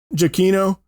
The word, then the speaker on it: Giacchino: Giacchino.